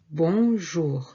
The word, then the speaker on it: bonjour: We can also say instead of salut, bonjour. Bonjour. Bon and jour. One word. Bon, nasal from the nose, and jour.